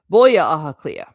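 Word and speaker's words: Baile Átha Cliath: Boa? Is it boy? I always called it Boa. Well, never mind how I said it. I probably said it wrong. Boya Ahaclea. Yeah. Oh, it's Baile. No wonder. I was thinking it was a BH. So I was trying to pronounce the BH.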